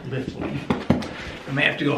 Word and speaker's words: Litheli: not say it correctly i always want to say uh liv eli but it's uh lifting i may have to